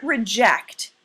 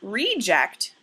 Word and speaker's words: reject: say it the word reject is a verb or action word but the word reject is a noun the meaning of reject